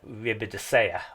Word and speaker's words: Ribadesella: as I leave uh riida I think I've got the pronunciation right with the Double L that time I was doing it wrong yesterday H so as we're